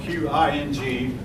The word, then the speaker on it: Qing: by the Qing, spelled Q-I-N-G. One of the few times you'll see a Q without a U. Q, and that's pronounced Qing, as best as I understand it, at least.